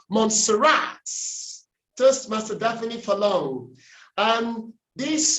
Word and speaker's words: Montserrat: Aha, the primary stress is on the last syllable. Montserrat.